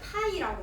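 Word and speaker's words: Π: 거고 쓰기를 n 이거를 우리 뭐라고 읽냐면 파이라고 읽습니다. 원주율 파이할 때 그 파이의 대문자예요. 파이라고 읽어요.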